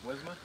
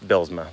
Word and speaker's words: Bilsma: So you pronounce it Blizma? Nah, it's Bilsma. Bilsma?